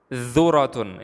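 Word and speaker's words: ذرة: Fustanun, nuqudun, dzuratun. Ini bukan du tapi dzu. Dzuratun. Ya, dzuratun. Dzuratun dengan za, dengan huruf za.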